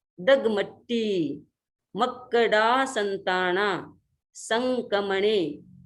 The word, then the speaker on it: दगमट्टी: कई बार लोग ग को यहाँ दो बोल देते हैं, दग्गमट्टी, दग्गमट्टी नहीं, दगमट्टी, दगमट्टी।